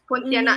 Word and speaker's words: Pontianak: Pontianak Mm-hmm.